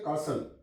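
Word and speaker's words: castle: catch सीटी सी catch आगे आ कासल जब टी के बाद एल आ जाए तो भी टी साइलेंट हो जाती है फर एपल य पर टी के बाद एल आ गया है तो एल से पहले टी आ जाए तो टी साइलेंट हो जाती है इस पढ़ कासल सी ए एस टी एल ई कासल विसल डब् एच आई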